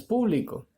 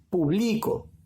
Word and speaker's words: público: A ver, en la antepenúltima no está, ya no es público. La mayor fuerza de voz la está llevando acá, en la penúltima sílaba. Por lo tanto, la palabra se pronuncia publico.